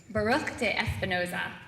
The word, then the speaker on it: Baruch de Espinoza: including dates I have to make sure I'm pronouncing this right Baruch de Espinoza Vivian is that correct yeah okay that's good